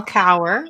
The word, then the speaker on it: Cower: well my name is cower rhymes with power oh i'm getting feedback